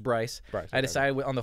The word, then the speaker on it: Bryce: And is it Brick, Bryce? It's pronounced Bryce.